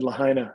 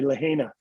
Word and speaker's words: Lahaina: like like i said lahaina a city on the island of maui if you spell it the way it's spelled voiceover will say lahina and i had to